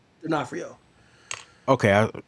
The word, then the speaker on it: D'Onofrio: D'Onofrio.